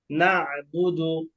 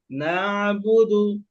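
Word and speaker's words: نَعْبُدُ: আমি বলব তখন কাফের কোন আওয়াজ আসবে না নাবুদু নাবুদু আয়নারে চাপ দেওয়া যাবে না আয়নার উপরে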